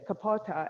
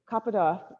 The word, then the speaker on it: Kapota: there was the pigeon kapata and kaputa is the correct way to say that okay so he was